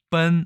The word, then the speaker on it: 奔: 우리나라는 달릴 분이라고 했고 설문해자에서는 발음이 본이라고 얘기했는데 한중일 3국에서는 어떻게 발음하는지 보겠습니다. 중국에서는 일단은 뻔 아니면 뻔이라고 얘기하고요.